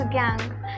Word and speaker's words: gangue: Second important term is गैंग. GANGUE बट is pronounced as DANG वाला गैंग only.